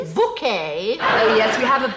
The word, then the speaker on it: Bucket: So sometime before the events of the series, she's apparently decided that it's actually pronounced bouquet. It's very kind of you to invite us, Mrs. Bucket.